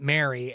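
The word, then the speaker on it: Mari: my wife's boss's name is Mary and she's pronounces it Mary and it spells it m-a-r-i but uh yeah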